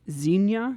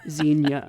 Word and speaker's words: Xenia: So Xenia. Yeah. Okay. No, you're right. 2 syllables.